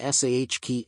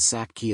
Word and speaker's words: sake: one Reddit user wrote does literally anybody pronounce saki to rhyme with jockey another wrote I've heard SA key and Sack key as well but to my